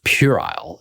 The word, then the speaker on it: puerile: And again, the word is puerile, and that's spelled p u e r i l e.